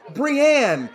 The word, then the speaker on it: Brian: okay look it's pronounced brienne it's pronounced brienne it's spelled brian it's pronounced brianne look i i i'm